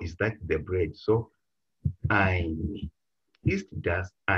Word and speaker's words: ein: Ist das ein Joghurt?